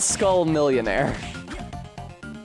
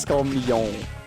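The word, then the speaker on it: Skull Millione: He's not Skull Millionaire. He's just Skull Million. Like, Guillaume de Million. Guillaume de Million? Yeah, that's how you say it. I remember how to pronounce those words because they're supposed to rhyme.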